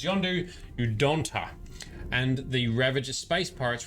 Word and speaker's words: Yondu Udonta: Quill agreed to testify against Yondu Udonta. Ooh. I pronounced that wrong, but it's Yondu Udonta.